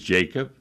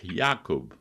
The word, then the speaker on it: Jakub: You could say her name is Jacob, or in Polish Jakub.